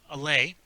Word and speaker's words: Allais: That is the it's pronounced allay. the Allais paradox.